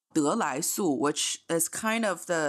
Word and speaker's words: 得来速: It's called 得来速, which is kind of it plays on the pronunciation of drive-through, but if you put a little bit drive-through, like drive-through, yeah.